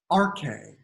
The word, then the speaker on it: arche: want to talk about the rk and so um i don't have that written down here but it's spelled a-r-c-h-e in the transliteration from greek to english and that's really the